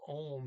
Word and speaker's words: og: a lot of times they say oh not og for anne for instance right and